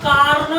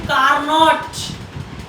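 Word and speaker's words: Carnot: ठीक है, तो लिखो फर्स्ट नंबर परिभाषा, टॉपिक तो लिखो पहले, टॉपिक लिखो कार्नो engine. कार्नो engine, कार्नो अंग्रेजी में कार्नोट, टी साइलेंट रहता है।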